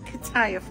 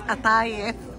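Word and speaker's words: قطايف: It's not kataif, honey. It's atayef.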